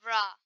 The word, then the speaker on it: Ra: Pharaohs were descendants of Ra um it says re but I like to call him raw because that's another way to pronounce his name the sants of raw